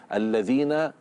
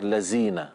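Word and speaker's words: الذين: "Ayyuhalladzina," " alladzina" memiliki "dza", bukan "za". Jadi tidak seharusnya “ya ayyuhalladzina.” Karena huruf di sini adalah "dhal." Hmm. "Dhal," pengucapannya melibatkan ujung lidah yang sedikit menjulur keluar. Ya. "Ayyuhalladzina,""alladzina." Ya. Namun jika disimpan di dalam, akan keluar sebagai "lazina." "Lazina." Dan ini bisa mengubah maknanya.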